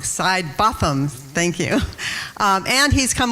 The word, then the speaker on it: Sidebothom: Botham. So I'm saying it wrong. Sidebothom.